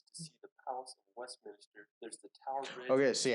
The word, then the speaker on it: Westminster: I know for a fact it is Westminster. Yeah. You don't pronounce nothing like it's written in England.